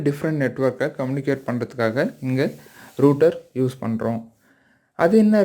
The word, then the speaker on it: router: அப்போனா இது ரூட்டர் அப்படி தான் நம்ம ப்ரொனவுன்ஸ் பண்ணணும். சரிங்களா. சரி, நிறைய பேர் ரவுட்டர்னு சொல்லுவாங்க. ஸோ ப்ரொனவுன்சியேஷன்லாம் பிரச்சனை இல்லை. பட் ஆனால் சரியாக நாம் உச்சரித்தோம் அப்படின்னா அதுக்கான அர்த்தம் சரியாக புரியும்.